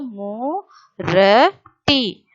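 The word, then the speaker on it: मूर्ति: So murti, murti. Pujan, pujan. So one more time children I will tell you. If you see that ra matra, we have to pronounce that ra matra before that letter.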